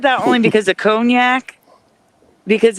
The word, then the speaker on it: cognac: Only cognac, which many pron mispronounce hognack because of how it's spelled.